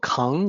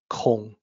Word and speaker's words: 孔: K and be careful it is not pronounced Kong like King Kong it's an o sound Kong in the ancient context